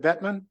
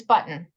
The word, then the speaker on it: Button: uh is it is it bman am I pronouncing your name correctly uh it's button oh Buton I beg